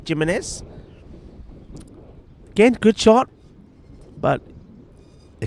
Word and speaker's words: Jimenez: We were saying Jimenez, well, because they're a very Portuguese-looking name, Jimenez, but we were told he does pronounce the J, Jimenez.